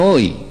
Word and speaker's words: নই: আচ্ছা যদি বলা হয় নটবর, এখানে নটবর, কিন্তু আমি নই, আমি নই, নইতে যে ন সেটা কিন্তু ন থাকছে না, ওকারান্ত হচ্ছে।